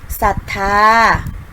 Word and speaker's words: ศรัทธา: หลาย คำ นะ คะ เช่น คำ ว่า ศรี ศรัทธา เศร้า นะ อารา ใส และ เศรษฐี ค่ะ ซึ่ง นะ คะ จะ ไม่ ออก เสียง ตัว รอ เรือ นะ คะ จะ ออก เสียง เฉพาะ พญา ชา ตัว หน้า คือ ศ. ศาลา ค่ะ ต่อ ไป นะ คะ